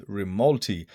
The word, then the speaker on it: Rimalti: they've gone for, well, they've added an I into the name, which now you can say it properly, which is Rimalti.